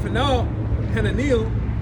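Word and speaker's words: Hananeel: unto the corner gate, from the tower of Fal Hanil, that's how you say it, unto the king's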